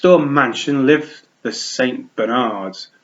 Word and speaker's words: Bernard: Bernards, pronounced Bernard with the emphasis on nard.